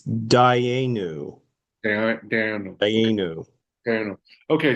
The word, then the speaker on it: Dayenu: And then Okay, the response, the transliteration yeah, pronunciation is Dayenu.